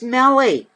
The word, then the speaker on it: Meli: It's M-E-L-I. And she said it sounds like belly.